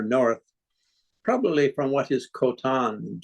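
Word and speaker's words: Khotan: probably from what is kotan today's world hotan pronounced KH always in Mongolian pronounced almost a Dutch sound isn't that traveled from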